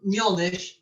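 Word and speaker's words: Mjölnir: Thor and Mjolnir, because that's how you pronounce it in Icelandic, not Mjolnir, Mjolnir.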